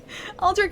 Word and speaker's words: Aldrich: oh Aldridge but alri aldri is the French pronun French pronunciation of it so it's not wrong it's not wrong at all um halflight is a